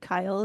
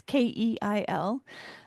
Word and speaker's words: Keil: Kyle is spelled differently than it sounds. It's Keil.